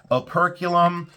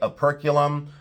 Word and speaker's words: operculum: And then I've often said operculum. Sometimes it is called opercalum. So aerculum or operum, however you would like to pronounce it or where you put your syllable breaks, but aerculum or opera column. I now say a perculum.